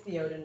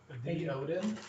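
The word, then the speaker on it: Théoden: Well, because I'm a It's Theoden. It's the guy with the pig. Theoden. His name is Theoden. I like that. The Odin? Theoden. The Odin is how it's spelled. Yeah, but Theoden, yeah.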